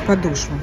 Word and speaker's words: подошва: Правильно говорить подошва.